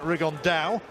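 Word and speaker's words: Rigondeaux: about fighting rigondo or as he's correctly pronounced with the spanish accent rig on dao and look two absolute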